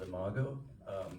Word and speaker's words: Imago: And again, I would love to know how to pronounce the title. Yeah. The film's called Imago, which is it's the term for the adult stage of an insect.